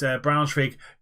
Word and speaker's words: Braunschweig: We're gonna get into this Braunschweig game, and that's how you pronounce it.